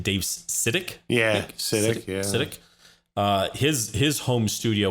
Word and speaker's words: Sitek: Yeah, Sitek.